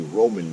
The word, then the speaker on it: ramen: excellent addition to the ramen bomb, whatever you want to call it. I believe the proper southern pronunciation is actually Roman noodles, not ramen or ramen. I've heard people call them ramen noodles, Roman noodles.